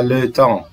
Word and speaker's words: le temps: وهنا ما حدش ينطق البي والسي والاس، اسمها le temps.